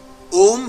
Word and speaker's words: Om: Om has three syllables.